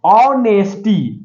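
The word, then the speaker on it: honesty: आवर पढ़ते हैं year इसमें ईयर पढ़ते हैं ऑनेस्टी ऑनेस्टी ऑनेस्टी इसमें औ का सबसे पहला लेटर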